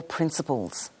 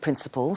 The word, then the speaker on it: principle: But here we have the word principal spelt with an LE. It's pronounced the same, principal, principle.